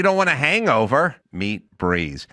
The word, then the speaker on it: Breez: Meet Breeze. Spelled B R E Z. Pronounced Breeze.